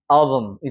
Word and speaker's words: album: 자, 여기 같은 경우도 왜 우리 사진첩을 앨범 하잖아. 근데 여기에 강세가 적용되고 얘는 죽어버리기 때문에 album이 되는 거예요.